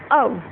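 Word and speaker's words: of: ओ, ठीक है ये, और दूसरा अव, ना कि कभी भी हम इसको ऑफ नहीं बोलते। इसमें जो फाइनल फ है उसके साउंड फ ना होकर, एफ की साउंड फ ना होकर व होती है, इसलिए हम इसे ओ या अव कहते हैं।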